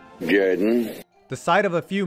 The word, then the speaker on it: Jordan: Though it's spelled Jordan, it's pronounced Jordan.